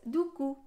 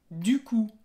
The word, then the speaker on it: du coup: Y el segundo conector, la verdad es que se escucha mucho más y es du coup. Sí, du coup. Du coup. La P final no se pronuncia.